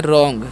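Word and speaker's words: wrong: बुद्धिमान हूं है ना डब्लू आर ओ एन जी इस हम पढ़ते हैं रंग क्या पढ़ते हैं रंग डब्लू यहां पर साइलेंट होता है ठीक है तो रंग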